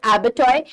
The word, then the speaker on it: abattoir: You also use these words sometimes, it's slightly difficult to pronounce, but it is pronounced as abattoir.